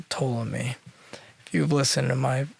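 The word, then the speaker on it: Ptolemy: for pronouncing that correctly there was a pea in front of that might not sound like it toll on me you have listened to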